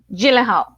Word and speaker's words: Gyllenhaal: Gyllenhaal.